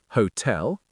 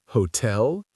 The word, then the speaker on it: hotel: Hotel, event, and police or hotel, event, police? The correct answer is B stressed on the second syllable. hotel, event, police.